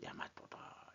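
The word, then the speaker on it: 大和: 이렇기 때문에 일본이라고 써도 야마토, 그 다음에 대화라고 쓰고도 야마토다. 이렇게 얘기를 하는 거죠.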